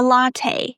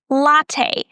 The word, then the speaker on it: latte: And in the end, you hear this a sound, as in hey, and we are stressing the first syllable. Repeat after me. Latte.